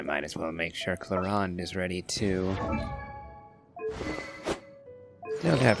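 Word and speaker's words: Clorinde: Yeah, we'll go with my Clarande Chevreuse Overload team. No, Clarande. Again, that's a name that is spelled very differently to how it is pronounced.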